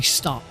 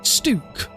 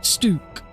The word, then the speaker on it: Stuk: to be stook it it looks like it should be stuck but without a c and I don't want